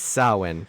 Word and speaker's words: Samhain: It's Samhain. Don't be a plebe. Well, then it should be spelled with a W.